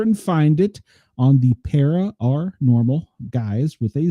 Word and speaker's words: Para OR Normal: And just in case, because of how you pronounce it, it is Para OR Normal, not Para OR. That's Para OR Normal Guyz.